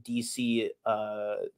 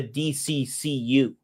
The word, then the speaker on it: DCU: Like the the C in DC is silent. It's not the DCCU.